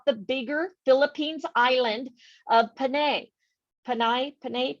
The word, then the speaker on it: Panay: lot of names and it's always pronounced as an eye perfect yeah like messiahs